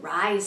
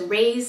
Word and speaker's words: Reye: going to be discussing rise syndrome also referred to as rey's syndrome either way pronounce it it doesn't matter so this is something